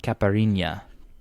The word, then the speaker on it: Caipirinha: And he is from Caparimba? Caipirinha? Hold on, it's written down right here. Caipirinha.